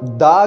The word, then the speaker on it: the: जब दा के बाद जो भी अल्फ़ाबेट हो, अगर वो वॉवेल हुआ तो फिर हम दी प्रोनाउंस करेंगे। मिसाल के तौर पर दी एरोप्लेन, दी एप्पल। समझ आ रही मेरी बात? अब अगर दा के बाद कोई ऐसा वर्ड हो जो कॉन्सोनेंट हो, वॉवेल ना हो, तो फिर हम दा ही प्रोनाउंस करते हैं।